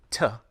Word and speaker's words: to: arrange a video call the word to is still unstressed but the vowel isn't reduced to uh listen to the difference to get to arrange some people though use the weak pronunciation ta even before a vowel listen do you want